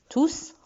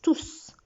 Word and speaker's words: tous: Ici, enfant est masculin pluriel, tout, tous en fait, parce que quand il est pronom, on prononce le S, tous.